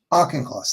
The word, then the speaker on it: Auchincloss: Um, Additionally, in Massachusetts, uh, Auchincloss, Auchincloss, I never seen it pronounce his name right. Auchincloss. Auchincloss, thank you.